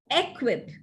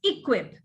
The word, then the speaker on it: equip: right now here are some typical examples of mispronunciations words like egg equip actually it is equip uh every uh telugu speakers tend to add